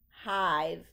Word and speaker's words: hive: not make that sound but that silent e has a very important job to help the I say its name so that's why it says hive we do not hear the e it is silent but we do hear the long I sound give your give give